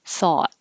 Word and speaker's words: thought: thought and you'll you'll hear a tiny the tongue a little bit lower the lips a little more rounded thought same same um i